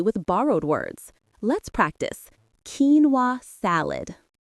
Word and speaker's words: quinoa: The word which comes from Spanish is correctly pronounced quinoa. The stress is on the first syllable and that middle part, the no is almost swallowed by the no sound at the end.